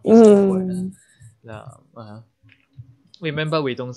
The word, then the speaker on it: 男: 男 remember we don't say 啱, we don't say that, we say 男. 男 we say it like a L.